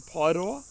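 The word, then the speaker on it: Paeroa: I do actually live in a small town at the bottom of the Coromandel called Pairoa. Correct pronunciation, Pairoa.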